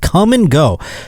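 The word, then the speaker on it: Kum & Go: This man was arrested for indecent exposure at a place called Come and Go. They spell cum, K-U-M, on this place. Yep, that's how it's spelled.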